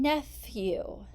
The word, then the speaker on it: nephew: with the letter e what's the next sound in nephew neph we've got the sound but this time it's not spelled with the letter F it's spelled with the letters P H what's the last sound